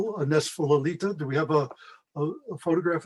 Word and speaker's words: Lalita: It's not Lolita, but it's Lalita.